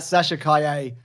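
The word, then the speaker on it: Sasha Calle: the car it's uh Sasha Kanye was a really good Supergirl we've learned her name's pronounced like that yes but it's not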